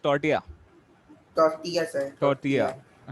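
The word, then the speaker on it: tortilla: Cuisine है, ठीक है, जिसका नाम एक्चुअली लिखा जाता है टॉर्टिला, बट इट is pronounced as टॉर्टिया।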